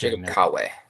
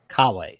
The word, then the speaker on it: Kooi: teams, you know, Jacob Kooi. Did I get that last name pronounced correct? Kawei. Kawei. Okay. Like like Kiwi, but Kawei.